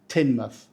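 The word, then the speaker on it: Teignmouth: again down in Devon we pronounce it tinmouth we don't say tinmouth or touth or tanm which you know could happen the time part is the red herring just say tin and because mouth it's actually MTH because of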